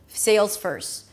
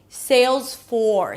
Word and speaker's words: Salesforce: The secret here is to make sure that the vowel is pronounced clearly before you bring the tongue up for the R.